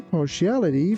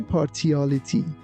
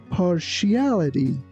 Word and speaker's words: partiality: She has a partiality for walking to school instead of driving. Here, be careful that t i a l doesn't sound like tial. We don't say partiality. We say partiality.